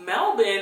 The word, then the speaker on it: Melbourne: heard of melbin so melbin is actually the correct way to pronounce melbour born Australia I worked on